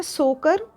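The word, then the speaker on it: Tso Kar: क्षेत्र में आती हैं लद्दाख में सोकर ये यहां पे टी साइलेंट है तो सोकर और सोमूर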